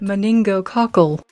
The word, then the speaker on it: meningococcal: meningococcal the ninja cockles apparently the uk pronunciation of it here in the us we say it moningo cockle moningo cockle i like the uk pronunciation better meningococcal meningococcal meningococcal meningococcal right